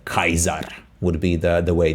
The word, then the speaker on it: Caesar: pronounce it, and also always C is pronounced as K. So Z is K. Kaiser would be the way, not Caesar, Caesar, but Kaiser, right?